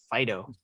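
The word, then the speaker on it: Fidough: one which which we talked about briefly was fido it's a fairy type and again fido is a dog and it's spelled f-i-d-o-u-g-h fido yeah i think i think roger made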